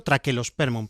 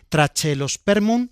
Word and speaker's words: Trachelospermum: Correctamente habría que decirlo traquelosperm, pero yo pronuncio la che. trachelospermun jazminoides y apellido de jazminoides te dice que es a la manera del jazmín.